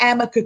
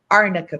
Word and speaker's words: arnica: mispronounces the cream there's something called arnaka cream not amica cream arnica cream this is and i'll